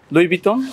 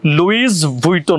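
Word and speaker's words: Louis Vuitton: আপনার মাথায় ঠিক না এটা লেখা আছে এল ও ইউ আই এস লুইস ভুইটন হবে এটা হচ্ছে একজনের নাম যখন হচ্ছে আপনি একসাথে বলবেন তখন হচ্ছে লুই বিটনেই বলে তাহলে আমি যে এতদিন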